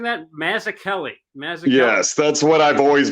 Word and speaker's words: Mazzucchelli: sweaty boys out there so so what the mazza kelly we're doing sir yeah what did i say am i pronouncing that mazakelli yes that's what i've always been told but